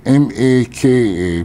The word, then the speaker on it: maka: The Word For Eyes in Hawaii is spelled m a k a pronounced Maka in Malaysia the word is spelled m